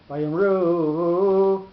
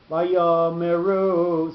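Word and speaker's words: ויאמרו: So it's not Vayomru, it's Vayomeru. So the Yud gets a little bit more lengthy pronunciation because of that.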